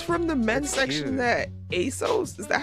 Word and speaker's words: ASOS: That ASOS. Is that how you say it? Yeah. I don't know what that is. ASOS.